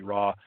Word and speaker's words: Raugh: I guarantee that's all you need or Robbie Raw. Uh and RAW is spelled R A U G and you'll find her book that way.